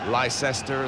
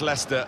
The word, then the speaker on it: Leicester: try to learn how to pronounce their name lice Esther Lai Chester we got a lot of that and wafer very much Leicester and very much the